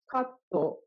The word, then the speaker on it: カット: Therefore, katto is not cut, but it has o sound at the end of it, and sounds katto.